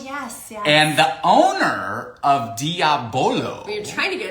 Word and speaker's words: Diabolo: Today we're going to have, Brian helped me learn how to pronounce this a couple shows ago. Diabolo.